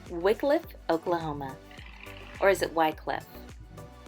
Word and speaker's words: Wickliffe: Or is it Wycliffe? Wickliffe. Okay, so a lot of people can't agree on how it's pronounced, but I can say this is one of the biggest towns we have on here.